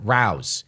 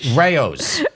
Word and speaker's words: Rao's: is for me, I always say it with Rao's, and it's Rao's. It's not Rouse. Get that out of your head. Never call it Rouse. You sound ridiculous. Okay. Rao's.